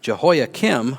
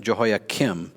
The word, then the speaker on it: Jehoiachin: Jehoiakim's successor was his 18-year-old son, Jehoiakim. So one's with a K, one's with a CH, but you pronounce them pretty much the same.